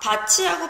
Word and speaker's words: 밭이: 자, 밭이 어떻게 발음이 돼요? 얘는 국외음화가 일어나죠. 그죠? 어떻게 발음이 됩니까? 바티로 발음 나야 될 것이 치로 발음이 나고 있습니다. 이 모음과 만나면서 트 소리가 치로 바뀌었으니까 국외음화가 일어나고 있습니다. 하지만 반니랑의 경우에는 반니랑으로 발음이 되고 있죠.